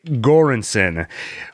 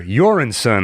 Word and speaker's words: Göransson: saying his name Ludwig göransson oh no I wrote down the pronunciation here Joran son I believe awesome score it has